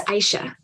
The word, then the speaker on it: Aisha: I hope I'm pronouncing right. Is Aisha? It's Aisha.